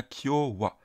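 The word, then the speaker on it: 今日は: mikchan et on a Kyowa voyez c'est le même wa il se prononce ici de la même manière que le WA qu'on a dans konichiwa ici en l'occurrence c'est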